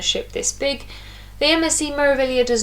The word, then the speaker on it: Meraviglia: Here you can see the giant Meraviglia spelt out on the side with a silent G. You don't pronounce the G in Meraviglia, which took me quite a while to learn.